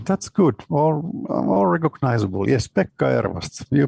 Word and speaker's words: Pekka Ervast: Yes, Pekka Ervast. You pronounced it pretty well.